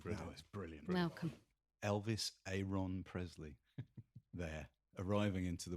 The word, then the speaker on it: Aron: Elvis Aon Presley there arriving into the world. Thanks, Bethon. I I did. There's the thing I learned from Peter Galick. It's not Elvis Aaron Presley. It's Elvis Aon Presley.